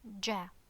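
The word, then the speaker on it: جَ: Okay, open the mouth while pronouncing it. So, how to pronounce this? Ja, ja.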